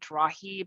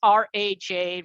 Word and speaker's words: Raj: friends would say so is that like a spanish j is it rahib and so i said you know what it seems like people here have difficulty pronouncing five letter words so let's just keep it simple three letters r a j raj can can't uh you